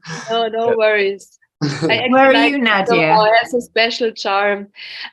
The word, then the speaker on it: Nadia: But in the Naja, am I saying that right? Naja? No, you're saying it wrong. Like almost every American, it's Nadia. Nadia? But it's fine. I'm getting used to it. Yeah, it's Nadia.